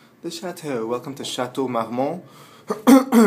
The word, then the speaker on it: Marmont: chatau welcome to chatau mmon notice the proper French pronunciation chatau MMO this is not Marmont this is not Vermont we're in Los Angeles